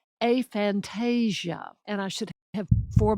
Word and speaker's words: aphantasia: more in a minute a and that's how it's pronounced and I'll tell you why in a minute too a Fantasia and I should have